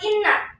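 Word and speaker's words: إِنَّا: Di lafaz inna. Nah, itu adalah gunah. Maka mengapa dikatakan gunah? Sebab ada nun bertasjid. Bagaimana cara membacanya? Harus dengan dengung.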